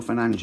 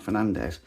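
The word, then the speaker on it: Fernandes: And again, reason why I said Bruno Fernanch and not Fernandez, again, I saw something where he was like pronouncing his name same as Brian Bumo and he said it's Bruno Fernanch.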